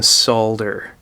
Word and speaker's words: solder: a regular basis and yes I do pronounce the L in solder so if you're standing